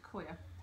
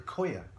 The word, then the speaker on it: coir: Coir. Yeah. The coir. Coir, C-O-I-R. I'm pretty pronouncing I've been saying coconut pube.